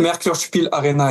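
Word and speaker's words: Merkur Spiel-Arena: Alors, je sais pas si la prononciation va être bonne. Le Merkurspiel Arena, c'est comme ça qu'on l'appelle? Merkurspiel Arena.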